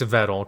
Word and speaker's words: Vedal: It's vettle cuz like he came out and like said how it's actually pronounced. It's actually vettle because it's like metal and cuz you don't you don't call it, you call it metal.